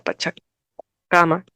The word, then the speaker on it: Pachacámac: distrito, pero en realidad la pronunciación adecuada, según los conocimientos que se tengan sobre el quechua, es que le recae la mayor fuerza de voz en la penúltima sílaba, por lo tanto sería Pachacama.